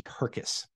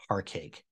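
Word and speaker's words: Hrkac: Like, for instance, there was a guy named Tony Herkus who played for the St. Louis Blues hockey team. And Herkus is spelled H-R-K-A-C. She actually pronounced his name Tony Harkake.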